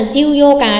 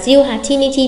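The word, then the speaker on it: 十八日: Chú ý là chỉ có trường mùng 4 như vậy thôi, chứ không phải là ví dụ như ngày 18 là ngày mùng 8 là yoka mà 18 là jiu yoka đâu nha. 18 chỉ là jiu hachinichi bình thường thôi.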